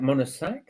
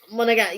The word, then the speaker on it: Monegasque: How do you pronounce that? Is that Monosac? I don't know. Oh, Monegasque. Yeah, because because they're called yeah.